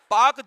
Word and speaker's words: Palk: पाक जल संधि, PALK, एल साइलेंट रहेगा, पहले भी बता चुके हैं।